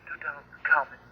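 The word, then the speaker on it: Tutankhamun: It's pronounced Tutankhamen.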